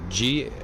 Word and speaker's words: Ghibli: It's Ghibli, as in golf, hotel, indigo, Bravo, Lima, Indigo. Studio Ghibli. That's how it's pronounced. Ghibli.